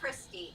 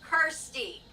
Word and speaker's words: Kirsty: It's not Christy. It's Kirsty.